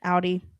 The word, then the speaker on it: Audi: I always say it wrong. Nah. I think it's because I see the AU. Odd. Anyways, Audi.